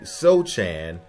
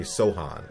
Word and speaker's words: Sochan: Castle, and probably Jeremy Sochan, Vassel, and maybe some other picks. I actually think his name is pronounced Jeremy Sohan if I'm not mistaken, but let me know in the comment section.